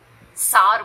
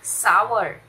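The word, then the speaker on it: sour: हिंदी में खट्टा जैसे नींबू, तो बहुत लोग इसको सार बोलते हैं, ये सार नहीं है, इसकी सही प्रोनाउंसिएशन है सावर, सावर, हिंदी में देखो, सावर, सावर, a lemon is सावर, okay.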